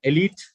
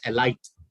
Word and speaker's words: elite: pronounce the word as a light that's not the word the pronunciation of the word is elite el eat is elite is the pronunciation it's